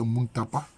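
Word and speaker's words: Mutapa: en pierre, de ce qu'on a appelé à l'école primaire Monomotapa, en fait, la vraie prononciation, c'est Muntapa.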